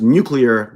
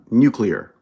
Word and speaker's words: nuclear: Remember, it's pronounced nuclear, not nuclear.